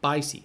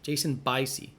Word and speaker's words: Biasi: He actually pronounced his name in the question. Bicey. Jason Bicey. That doesn't make any sense based on the spelling.